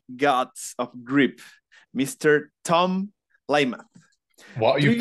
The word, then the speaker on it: Lymath: the founder of gods of grip Mr Tom louth what you pronounced it right as well was it good